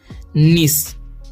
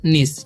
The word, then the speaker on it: niece: एन का उच्चारण हो जाएगा न, आई का ई, तो नी। ठीक है, क्या हो जाएगा, नी। और सी के बाद क्या है, ई है। तो ई के रहता है सी के बाद, तो क्या उच्चारण हो जाता है सी का स, तो पढ़ेंगे हम निस।